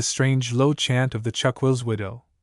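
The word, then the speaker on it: chuck-will's-widow: low chant of the chuck will widow, a name which the owner himself pronounces with a rest after the first syllable.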